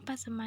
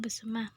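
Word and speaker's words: Besemah: disebut dengan nama Persema nama pasma yang kini dikenal sebelum sebetulnya adalah lebih karena kesalahan pengucapan orang Belanda demikian menurut Muhammad zaman seorang budayawan dan sesepuh bersama Adapun pengucapan yang penyang benar adalah bersama sebagaimana sebagaimana masih digunakan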